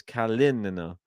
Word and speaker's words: Kalinina: Emphasis on the second syllable in Rybakina. Yeah, we know that one. And KALININA. Okay, so it's KALININA.